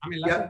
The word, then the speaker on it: Laschet: And the sort of corollary to that is the new CDU leader, Armin Laschet, how do I pronounce that? Laschet, yeah.